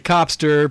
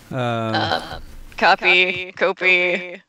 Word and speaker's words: Kopii: knowing what Kopii is that it's between hearing Kopii, other people saying Copster, people saying, what were the other ones? Just ways of pronouncing in general what I believe is a simple name that you have.